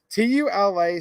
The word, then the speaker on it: Tula: So again, this tool ammo is actually Tula ammo.